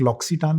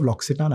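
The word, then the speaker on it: L'Occitane: hotel है बाली में एंड वहां पर एक लॉक्सिटान का स्पा है लॉक्सिटान is this amazing French brand it's उसका स्पेलिंग लॉक्सटान का स्पेलिंग है एल ओ सी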